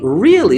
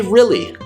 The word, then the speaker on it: really: really do so because we tend to pronounce that word with a short i sound really rather than really i